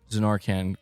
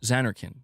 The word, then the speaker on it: Zanarkand: It's been years and MBG still can't say Zenarkand correct. No, no, no. I The correct pronunciation is Zanarkand, right?